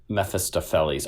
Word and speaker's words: Mephistopheles: Mephistopheles. Mephistopheles. Oh, okay. I was just I was like putting the emphasis. I was saying all the syllables. I was just putting emphasis in a weird spot.